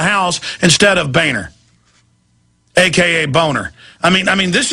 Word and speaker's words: Boehner: of his real name boner I don't know that's how it's pronounced it's German it's boner I don't know why